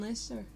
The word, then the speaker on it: Leicester: Can you tell I didn't live near these towns, otherwise I'll probably be able to pronounce them. Leicester. That's it, Leicester.